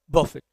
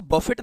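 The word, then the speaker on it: buffet: 35 में कहता है च इज the silent letter in the word बफिट अब यहां प आप इसको बफिट नहीं पढ़ते क्या पढ़ेंगे बफ तो यहां पर टी साइलेंट होता है यर ध्यान रखना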